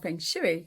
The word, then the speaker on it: Feng Shui: I'm going to give you 5 fun, fab tips on Feng Shui, or Feng Shui, how we pronounce it.